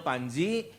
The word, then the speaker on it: Pandji: Nah, nama saya Panji. Tentunya papa saya bukan Panji Tengkorak, bukan juga Panji Semirang, Panji Gumilang teman saya, dan papa saya Panji Selamet. Ya udah selamat. Nah, jadi Panjinya PANDJI ya, ejaan lama.